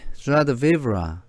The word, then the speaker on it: joie de vivre: pronounced something like joie de vivre. 이것의 발음은 joie de vivre입니다. joie is identical in sound to the S of pleasure.